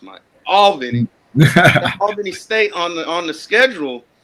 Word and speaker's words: Albany: That's how it's pronounced, Mike. Albany.